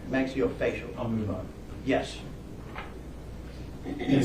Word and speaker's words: maxillofacial: Yes, this, can't really read it from here, but that's the oral and maxillological surgery center. I butchered that one pretty bad, sorry. Maxillofacial? Close enough. Close enough? Maxillofacial.